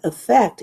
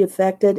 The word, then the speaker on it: affect: And affect in the sense of pretending. To all his problems, she affected indifference. So as a verb, you pronounce it affect.